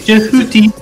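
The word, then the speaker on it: Jehuty: called though right yes jouti yeah that uh easy to pronounce English name jeti jouti it's actually jeti jeti it is a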